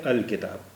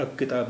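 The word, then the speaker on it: الكتاب: अलकलम इसी तरह किताब किताब में का से शुरू हो रहा है काफ से शुरू हो रहा है और काफ जो है रूफ कमरी है इसलिए इसका यहां लाम का तलफ्फुज होगा लाम का उच्चारण भी होगा तो यह है अल किताब यह अ किताब नहीं पढ़ा जाएगा अल किताब है तो यह चीज पहली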